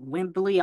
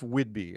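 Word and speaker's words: Whidbey: because you're from I don't know how to pronounce it wimble Island no it's um it's Whidby uh it's Northwest Northwest Northwest in fact you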